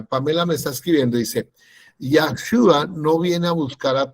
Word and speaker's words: Yahshua: Dentro del Tanat, transliterado el nombre de Yahshua, que es el mismo que pusieron como Josué, está la forma extendida que se escribe de esta manera, Yahshua. Y la segunda se escribe así. Yahushua.